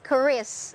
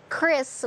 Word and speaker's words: QRIS: It's Qris in Indonesia. Not even Qris. It's Qris with K-R-I-S. All right, sir. It's settled then. Yes, it's quite debatable. So regarding about Qris in here, we know that Qris is a new breakthrough